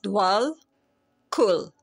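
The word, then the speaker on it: Djwal Khul: It's DJWAL, KHUL.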